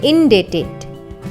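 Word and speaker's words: indebted: है हमारी लिस्ट में इन डेटेड इन डेटेड यहां पर बी साइलेंट है डेट का मतलब होता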